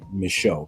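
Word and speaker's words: Micheaux: Oscar Michaud, kind of spelled like DeVoe. You know that Louisiana bow.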